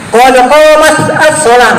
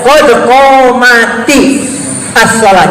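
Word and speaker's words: قد قامت الصلاة: Nggak bisa bacanya qad qamat as-shalah, enak dan salah Ibnu Tajib. Tetapi walaupun dia katanya qamat itu mati karena as-shalah ada alif lam asy-syamsiyah, maka dibaca qad qamati as-shalah.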